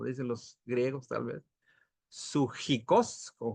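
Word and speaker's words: ψυχικός: Y dice, continúa en el verso 15, la palabra animal aquí, del verbo, empieza con P, pero se pronuncia, creo así, sujikos, como dicen los griegos tal vez, sujikos, con J y K, pertenece a lo natural o físico, mas no a lo espiritual.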